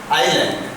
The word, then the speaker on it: island: ठीक है, एक्सरसाइज 2 और chapter 2 Sunday spent eight adventure आइलैंड। बच्चे इस बात का गौर कीजिए, ये जो ISLAND, इसमें S है जो साइलेंट है, इसलिए इसको पढ़ा जाता है आइलैंड।